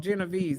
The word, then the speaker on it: Genovese: That's what it's called, Genovese. That's the word I couldn't pronounce.